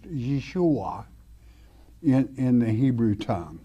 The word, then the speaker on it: Yeshua: father's name y'all day Jesus is Yahweh Savior pronounced Yeshua in in the Hebrew tongue all right y'all